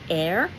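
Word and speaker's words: Eyre: but not the last her surname is air e y r e or you could spell that h e i r because she is the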